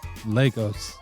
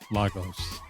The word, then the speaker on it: Lagos: It's not the capital and they pronounce it Legos, not Lagos.